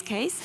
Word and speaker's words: CASE: So we bring them to space in this case, and we help them testing the end-to-end service to get ready to enter the market. And I want to bring up this word case. Yes. Which rhymes with space, which is not an accident.